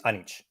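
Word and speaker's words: Anić: So 99% of the time people say Anic, but the real name pronounced it is Anic. Anic. So it's Anic. Yeah. So it's Eastern European. My family is originally from Croatia.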